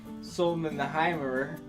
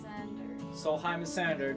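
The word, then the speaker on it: Sólheimasandur: to get to the Solman the hirer dc-3 airplane wreck the recording team has just told me that was the wrong pronunciation how do you say it so Solheim a senator dc-3 plane wreck this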